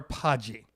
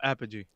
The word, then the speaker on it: Apogee: i used an uh is it pronounced apogee or podgy no apogee apogee so i use